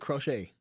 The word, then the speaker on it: Crochet: That's how you say it, Crochet. Garrett Crochet.